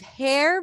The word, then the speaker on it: hair: we have hair hair it's kind of like you're taking the H and the r that are connected for her and you're stretching them out and you're creating space for a vowel her hair her hair